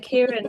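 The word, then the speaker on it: Kieron: Uh Karen, I I knew that you have to say it like that.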